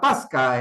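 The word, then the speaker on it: πάσχα: Pascua se pronuncia Pasca en una transcripción griega del término arameo.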